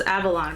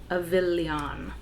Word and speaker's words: Avillion: I thought it was Avalon, but it's Avillion.